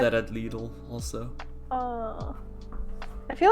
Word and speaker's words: Lidl: Okay, how do you guys pronounce it? I pronounce it Lidl. hmm Everyone here, Lidl.